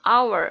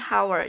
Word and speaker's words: hour: Walaupun hour diawali dengan huruf H atau H, tetapi dibacanya hour, bukan hour.